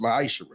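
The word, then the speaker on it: מעשר: You can find this in the book of numbers chapter 18 verse 21 in the book of Malachi 3:8-10 means 10th in Hebrew and it's pronounced myisher 10% of every penny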